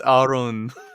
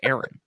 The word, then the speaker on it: Aaron: you're supposed to say it's our own that's that's the stupidest thing i've ever heard it's aaron aaron um aaron hey i'll